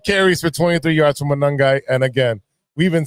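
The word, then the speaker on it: Monangai: It's Manungai.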